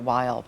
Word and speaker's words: Weill: When he was German, when he lived in Germany, it was Kurt Weill. When he came to America, he wanted it pronounced Kurt Weill.